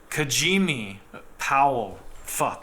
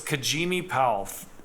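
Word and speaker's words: Kajieme Powell: black females are also going through similar issues kajimi Powell I'm such an idiot kajim so it's kajimi pow so basically oh my God kajimi po so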